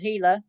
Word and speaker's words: Gila: is urged to call the Gila it's spelled g l a and it's called heila County Sheriff's Office the